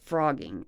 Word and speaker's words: phrogging: It's called frogging, okay? And look up the term. It's spelled Phrogging. Frogging, like a green frog, but with a Phro.